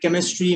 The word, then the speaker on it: chemistry: But in some words like chemistry, mechanics, school, the H is silent.